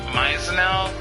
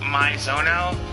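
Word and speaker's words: Maizono: I I'm pretty sure that her name is pronounced myel, not my zonel.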